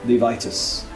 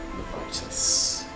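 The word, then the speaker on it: Levistus: Levitus. Levitus. Levit pronounce it.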